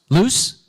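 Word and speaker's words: Luce: do you say the name of this mascot loose loose loose loose okay Lu u c e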